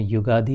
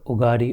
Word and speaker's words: युगादि: अच्छा अथवा तो हम दक्षिण भारत में युगादि कहते हैं। ये जो WhatsApp पे इस पर उगारी उगारी चलता है। वह अंग्रेजी में स्पेलिंग करने के कारण उसका वास्तविक संस्कृत में प्रारंभ में है युग आदि युग का प्रारंभ युगा आदि